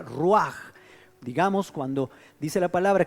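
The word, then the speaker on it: רוח: Es también la misma palabra en hebreo que se pronuncia ruaj.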